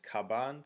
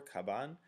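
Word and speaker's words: 鞄: that's the meaning um to pronounce it is kaban so that's what those three characters stand for kaban and so what I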